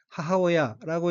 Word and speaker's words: 母親: 다음는 한자가 한국어로 모친이고 일본어는 하워야라고 읽으며 하오야는 모친 어머니란 뜻입니다.